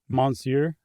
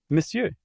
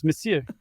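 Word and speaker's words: Monsieur: Monsure. How do you pronounce it? Msure.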